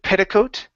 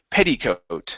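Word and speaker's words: petticoat: here is the word petticot okay instead of pedote okay Petty make sure to pronounce that e sound petty petty coat petty coat okay one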